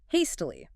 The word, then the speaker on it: hastily: Okay, our next avy adverb, hastily. H A S T I L Y. Hastily, three syllables, stress on the first means doing something in a hurry.